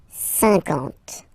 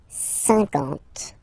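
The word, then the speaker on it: cinquante: Okay, remember that you get this QU, but then you don't pronounce the U. And then you get the nasal un, and then en. 50. 50.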